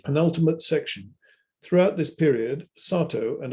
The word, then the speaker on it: Satow: Throughout this period, Satow, and I always pronounce him with a long A as in father, Satow was resident in the small town of Otte, St.